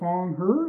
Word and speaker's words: Foung: Paul, District 67, Senator Foung, if I pronounced that correctly, or at least I got close.